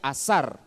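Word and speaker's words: אזר: Y este verbo ceñir en hebreo se pronuncia azar, que tiene que ver no solamente con ajustar, sino circular.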